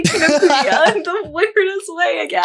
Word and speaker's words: Kinokuniya: Sorry, I just heard you say Kinokuniya in the weirdest way again. I don't know how to say it. So Okay, that's okay. Yeah. But yeah. What's it actually called? Kinokuniya. Kino Kuniya.